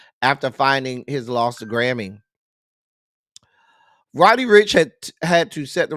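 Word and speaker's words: Roddy Ricch: me end of quote Rich Rody said or is it Rody Rich am I saying this man's name wrong it's Rody Rich I'm sorry I don't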